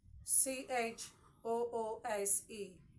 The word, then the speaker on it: choose: and lastly we have c h o o s e choose the sound from the S whenever you see your s sit comfortably between two vowels do know that it demands for z sound okay choose choose now